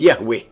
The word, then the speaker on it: Yahweh: himself as I am which in Hebrew is pronounced Yahweh and the almighty continues